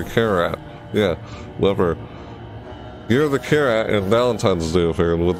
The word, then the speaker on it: Carrat: Yeah, C-A-R-R-A-T, Carrat. Because it's Year of the Carrat. That's how it's spelled, Carrat. Carrat, like Carrat. It's like a carrot, and a rat put together.